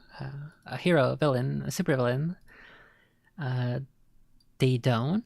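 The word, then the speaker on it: Daedone: Daydone, is that how that's pronounced? It's basically dead, but you swap the A and the E.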